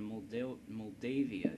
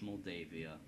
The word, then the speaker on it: Moldavia: lot of resources into mold mavia either movia it's Moldavia I'm sorry I've been pronouncing it wrong this whole whole time but now it's